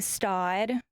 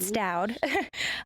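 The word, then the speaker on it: Staud: We love carrying Stod. Some people pronounce it Stoud.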